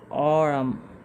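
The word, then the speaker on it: aurum: এখন এই উচ্চারণটা হচ্ছে, AUর উচ্চারণ হচ্ছে অরাম, এটা হচ্ছে অরাম।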